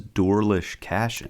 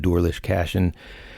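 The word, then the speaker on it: Doarlish Cashen: Like I said, this is Dorlish Cashin. Yeah. That's how you say it in Manx, basically. So, and if you're from Isle of Man, you call it Dorlish Cashin.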